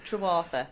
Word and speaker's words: Trewartha: I've got with me Katy, and we've just been discussing your surname, and can you pronounce it for me? Yeah, it's Trewartha.